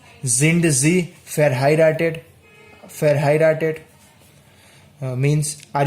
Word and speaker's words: sind: Then again, this is another point to remember, that S, when it comes first, it is pronounced as Z. It's Z. It's not so. So it's sind Sie verheiratet?